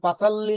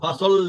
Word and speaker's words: فصل: আমি একটু আমরা তো সবসময় বললে যে পাসাল্লি রাব্বিকা ওয়ানহার, কিন্তু এখানে পাসাল্লি লি রাব্বিকা এটা উচ্চারণটা কি এটা হবে? হ্যাঁ পাসাল্লি তাসদিদ আছে পাসাল্লি যেটা তাসদিদ আছে, আমরা তো বলি পাসাল্লি রাব্বিকা ওয়ানহার। না, ফাসাল্লি এখন যেটা বলছেন ফাসাল্লি, ফাসা না বলে বলবেন